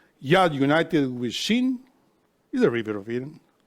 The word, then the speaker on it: Shin: take the letter Shin, that's pronounced with your teeth.